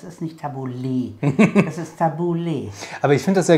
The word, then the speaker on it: Tabouleh: habe ich das wird wie spricht man es aus Tabouleh tabula Tabouleh Tabouleh also tabula mit E hinten richtig mit E tabula also